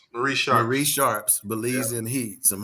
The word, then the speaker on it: Marie Sharp: Is it Mares or Mars? It's Marie Sharp.